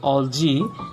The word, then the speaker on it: algae: Alga, algae or algae actually. Pronunciation is algae.